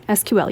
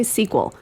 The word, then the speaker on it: SQL: I do with that you have two options you can say the letters and that's fine SQL you can also say SQL uh anything else don't no sequel yeah yes um this